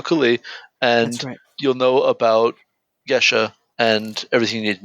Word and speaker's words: geas: It's It's a It's a geas. Yeah. For those of you listening who don't know what I'm saying, I'm saying geas.